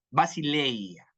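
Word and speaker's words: βασιλεία: griega para reino es basilea, basileya, como basilón.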